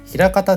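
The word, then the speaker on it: 枚方: そもそもこの漢字枚方って読むこと自体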